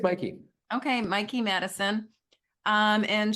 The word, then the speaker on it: Mikey: Anora played by uh do you pronounce her name Mikey or Mickey I I it's Mikey okay Mikey Madison um